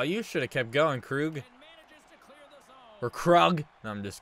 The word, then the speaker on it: Krug: I still get comments on that video back in 2018 of people correcting me to say Krug, or pronounce it like Krug.